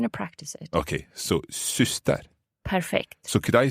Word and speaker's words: syster: So it's like the Y of Ystad that we were talking about Yes.